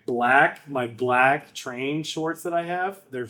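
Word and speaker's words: Treign: Train. Train. T R E I G N I think is how it's spelled. Train.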